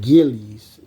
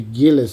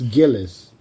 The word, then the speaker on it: Gillis: then uh and then Elizabeth Gillis they said Gillies it's originally Gillis so there's a couple girls on TV they hid it and they're pronouncing the last names wrong like Gillies it's Gillis I know that Rochelle and then stuff like